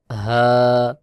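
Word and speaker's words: ح: এই হা উচ্চারণ হবে হলকের মধ্যখান থেকে, যেমন হা হা হা খ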